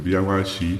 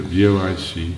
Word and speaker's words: vOICe: The software, the VOIC for Android. You spell it like voice, but the three middle letters, camel case says OIC.